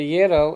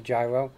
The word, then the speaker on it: gyro: Gyro is used more than euro. I would bet. We always tell people, remember, it rhymes with Spiro, gyro.